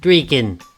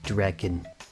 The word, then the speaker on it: Draken: to point out that that's pronounced draken not dracon the raken with an e like pain there's racing games well